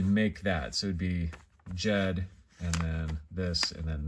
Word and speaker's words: Ged: The next one here we have is Jed. It's spelled in English G-E-D.